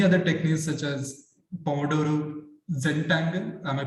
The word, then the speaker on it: Zentangle: And also many other techniques such as Pomerado Zentangle. Am I pronouncing it right? Yeah, Zentangle, and maintaining a dream journal, maintaining I and me group.